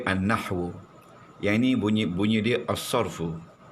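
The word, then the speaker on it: النحو: Nahu alif lam nun ha wau. Bunyi dia annahwu.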